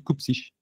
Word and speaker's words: Cupcic: minutes à me dire non, c'est pas CUPSIC, c'est CUPSIC.